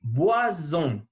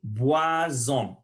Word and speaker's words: boissons: Le S devient Z entre voyelles.